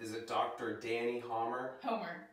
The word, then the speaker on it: Hommer: How do I pronounce it? Is it Dr. Dani Hommer? Homer. Homer.